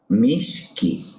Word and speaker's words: Ashpamishki: ¿Cómo les suena ese Ashpamishki? ¿Les suena así? Shh. Bueno, sí, tienen razón. Se escribe con SH. Así nos vamos entendiendo. Así, igual que como el signo que tiene una marca de combustibles, así. Ashpamishki.